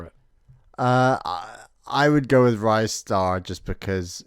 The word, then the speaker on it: Ristar: was something that said it's pronounced Ristar, as in like your wrist.